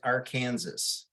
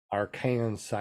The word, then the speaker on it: Arkansas: We got to get you to pronounce the state you live in right. I'm pretty sure it's Arkansas. Arkansas.